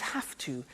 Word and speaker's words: have to: pronunciation I have to notice I don't say V I say F have have it becomes have to have to becomes in